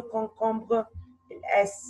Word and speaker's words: concombres: Here, where is the silent letter dans le concombre? S. Bravo.